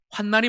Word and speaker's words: 환난: 여러분 착각하시면 안 됩니다 환난이 있고 환란이 있어요 리을로 된 그 단어는 발음이 환란이에요 그러나 오늘 성경에 나오는 이것은 환난으로 발음합니다 환난 죄인인 우리 인생의